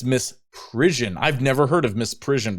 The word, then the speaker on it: misprision: And then count 2, misprision and I almost thought it was misprison. And in fact, I think on my YouTube short, I mispronounced it. It's misprision.